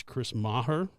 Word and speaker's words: Chris Maher: super excited to talk to his name is Chris Maher did I pronounce it right yes that's correct okay so